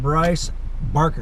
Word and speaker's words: Brice Barker: Hi, this is Mike Perez with Home Buyers Academy on another episode of Real Estate Ridealong, and today we are with Brice Barker, right?